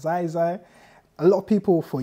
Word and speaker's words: Ziezie: oh, okay, cool, so he's young, his name's pronounced Ziezie, it's like kind of, they're just reminding themselves